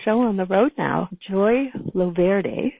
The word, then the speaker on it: Joy Loverde: Joy Loverde. Did I pronounce that right, Joy? Oh, beautifully. Like the Italian version.